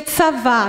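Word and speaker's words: צוה: Aquela palavra, pôr em ordem, ordenar, está no hebraico, que se pronuncia tsavá. Não se escreve assim, no hebraico, mas se pronuncia mais ou menos assim, tsavá, que significa ordene, mande, você tem autoridade para fazer.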